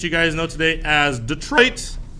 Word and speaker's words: Detroit: And of course, the famous city that you guys know today as Detroit, though it's French, so it actually should be pronounced Detroit.